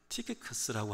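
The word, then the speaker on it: Tychicus: 여러분 이 두기고라는 사람은 티키커스라고 하는 영어 발음인데, 혹시 그 자기 영어 이름이 두기고이신 분이 계신가요?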